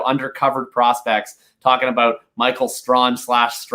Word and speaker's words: Strachan: I think it's pronounced Strawn, but I could be totally off on that. But whatever, Strachan, Strawn, Strachan, whoever it is.